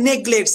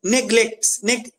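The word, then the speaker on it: neglect: এবার সো he never নেগলেট যারা ওয়ার্ডটা জানো না উচ্চারণটা শিখিয়ে দিচ্ছি নেগলেট নেগলেট হ্যাঁ নেগলেট মানে অবহেলা অবহেলা যারা জানো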